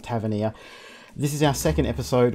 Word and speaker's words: Tavernier: that's actually how you say it it's called Tavernier this is our second episode we are on